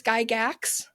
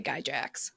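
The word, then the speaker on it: Gygax: So, it's Gyax. Gyax. Yeah. Okay. Well, thank God I didn't try because I was going to say Guyjax.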